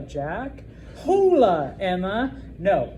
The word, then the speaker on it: hola: I'm not going to say hola, Jack. Hola, Emma. No, it's just hola. Hola. You pretend it's not there. Okay. The next class I'm teaching after you guys is not history, it's okay. No H.